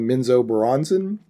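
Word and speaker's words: Menzoberranzan: Their main city is, and I'm always going to say it wrong, Minzo Baranzan. I've heard it pronounced differently, but that's it.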